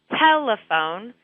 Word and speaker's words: telephone: So, for example, for a word like telephone, the first syllable is the stressed syllable.